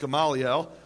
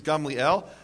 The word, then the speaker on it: Gamliel: So a precedent a precedent which gaml you probably thought it was pronounced gamaliel. Uh the correct Hebrew pronunciation is Gamliel.